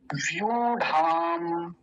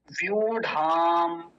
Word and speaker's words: व्यूढ़ाम: दूसरी देखिए, व्यूढ़ाम, व्यूढ़ाम, बड़े ऊ की मात्रा है, लंबा खींचेंगे, व्यूढ़ाम, द्रुपद।